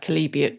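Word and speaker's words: chalybeate: Cuz I know I've probably pronounced it wrong. Calibiet. Okay. Calibi. So, what does it actually taste like? Calibate water.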